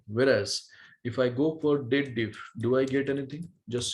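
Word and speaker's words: DATEDIF: People do the wrong pronunciation. They believe that it is of dated if. No, it is the combination date and difference, not date if, date diff.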